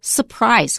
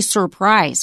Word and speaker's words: surprise: Wesley, we noted that if there are 2 R's in a word separated from each other, we often don't pronounce the first one. For example, surprise. We don't usually say surprise. We say surprise.